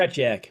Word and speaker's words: Tretiak: For the Russians, Tretiak, is that how you say his name? Tretiak, yes.